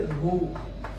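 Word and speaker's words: ρ: यहाँ से प्रोपोर्शनलिटी का साइन हटाएंगे तो अगेन एक कांस्टेंट आएगा जिसे रो, इसका प्रोनाउंसिएशन क्या होता है, इसका रो, ठीक है।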